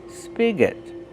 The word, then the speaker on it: spigot: Use a short sound like this. Is spig. Spigot. And the next syllable is not stressed. So it's awah. That the spigot.